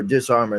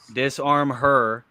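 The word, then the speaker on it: Disarm-Her: disarmer there we go disarm her is how it disarm her disarm her that's how it that's how it's actually referred to disarm her disarm her true I've been saying it wrong for 12 years you hate to see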